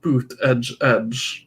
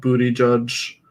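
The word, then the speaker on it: Buttigieg: then it was like boot Edge yeah because that's how it's supposed to be pronounced or something yeah yeah I don't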